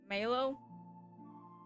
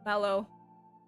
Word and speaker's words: Maelo: Maelo? Does the pronunciation Maelo even make sense? I don't know. Even my Google Captions doesn't know. It just pronounces mellow. Or like M-E-L-O. Instead of Maelo. M-A-E-L-O.